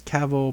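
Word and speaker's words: Cavill: His last name is Cavil, pronounced like travel.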